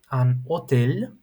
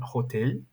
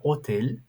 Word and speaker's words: hôtel: Dans un hôtel, okay, do not pronounce the H, it's not an hotel, it's an hotel.